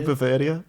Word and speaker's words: Bavaria: Bavaria? Do you say it like that? Bavaria. I say Bavaria.